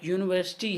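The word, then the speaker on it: university: अब इसमें सिंपली क्या है, सिंपली वो ये कहता है कि जो साउंड लाइक यूनिवर्सिटी है, अब यूनिवर्सिटी को हमें, जब हम यूनिवर्सिटी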